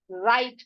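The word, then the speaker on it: write: तो इसको क्या पढ़ेंगे हम, यहाँ पर इसको क्या पढ़ सकते हैं, इसको हम right पढ़ेंगे। क्या पढ़ेंगे, right पढ़ेंगे, W को साइलेंट कर देंगे।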